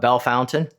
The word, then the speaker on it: Bellefontaine: Looks like it's spelled Bellefontaine, but Bellefontaine.